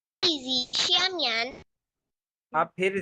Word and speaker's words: 椅子: इज, इज, ई पे third tone है बच्चे।